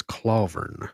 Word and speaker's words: Clawvern: I even just purposefully pronounced it a little bit wrong because his name is Clawvern.